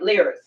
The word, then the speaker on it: livres: Well, spelled L-I-V-R. Yeah, lire. Okay. You don't pronounce the V. All right, lires.